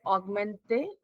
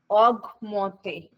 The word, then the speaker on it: augmente: To increase, we call it as augmenta. How do we pronounce it? Augmente. Augmente. Okay.